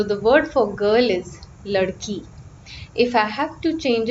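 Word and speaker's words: लड़की: Example, the word for girl in Hindi is ladki, ladki. So you hear the E ending.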